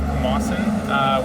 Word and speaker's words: Camossung: We're here at the site of the Legend of Camossung, which is the pronunciation of the word where the word Camosun comes from.